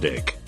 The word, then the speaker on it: Duke: I knew a girl named Anita Duke. Pronounced Dick. German Mennonite enunciation.